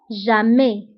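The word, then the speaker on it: jamais: توجور دائما هي توجور ضدها أبدا أو جامي. جامي. دونك توجور ضدها جامي. توجور دائما، جامي أبدا. وانتبهوا بالنسبة لتوجور وجامي فكنكتبوهم بأس آخر الكلمة ولكنها لا تنطق.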